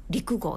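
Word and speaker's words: 六合: 社団法人六号漢数字の 6 に合うと書いて陸号って読むんですねの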